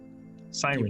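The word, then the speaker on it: Syrinscape: Sirenscape beautiful.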